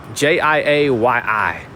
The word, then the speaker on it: Chiayi: In Chinese, Sandra, it's called Chiayi. But the way they spell it here in Taiwan is Chiayi. They spell it Chiayi. But the way to say it is Chiayi. Jiayi.